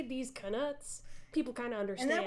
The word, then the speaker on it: Knuts: D's Knuts. Yes. And I like to pronounce the K because that's what Jim Dale does, and also because it differentiates knuts from actual nuts.